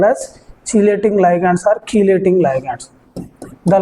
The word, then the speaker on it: chelating: Chelating ligands. Chelating or keylating ligands. Chelating or keylating. Both are same pronunciation.